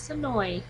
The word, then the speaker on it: Senoia: there and I did kind of mention the name wrong a little bit of the town in there but it is sooi Georgia also known as Woodburry on The Walking